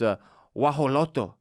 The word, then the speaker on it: guajolote: It's guajolote. Guajolote. Guajolote in Spanish. Guajolote. I can't say the Aztec version, but it's spelled in an absolutely asinine way with so